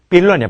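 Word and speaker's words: villain: 이거 발음 조심해. 빌런이야 빌런.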